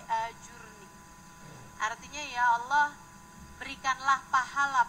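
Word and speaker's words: أجرني: Allahumma ajurni Fi musibati itu bacanya mesti bener bukan Hajir nih ya tapi ajur nih artinya Ya Allah berikanlah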